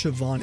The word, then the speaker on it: Siobhan: That's how you pronounce Siobhan. Interesting. That's cool. I like that too. It doesn't like look at all how it sounds to me, but that's fun, you know? There's a lot of words like that. A lot of, oh, it's Irish.